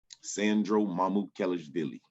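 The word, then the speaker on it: Sandro Mamukelashvili: player on your team i want you to pronounce his name for me sandro mamut kellis billy you did it good i have it written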